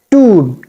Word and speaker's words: tomb: And we have to stretch the sound of O. Tomb. Tomb like you.